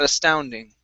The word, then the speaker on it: astounding: Now, because the word astounding starts with an A, we're actually going to treat this T like a flap T. Instead of saying that astounding, we're going to say that astounding.